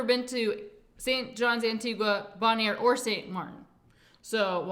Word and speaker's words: Bonaire: Then to Bonaire. Then St. John, Antigua. And then to St. Martin. That's how you say it. Bon Air. So That's Bon Air.